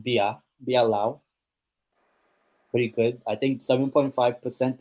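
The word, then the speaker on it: Beerlao: Um, but if anyone has ever tried beer Lao, Le Oceanian beer, Lao beer. They don't have it here in Spain. I've never tried, but it's my favorite beer. Beer Lao beer. Well, it's pronounced Bia Biao.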